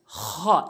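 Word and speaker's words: خ: অর্থাৎ হলকের শেষ থেকে হলকের শেষ থেকে এভাবে খ এভাবে আমরা উচ্চারণ করব খ এরপর আসুন দাল দাল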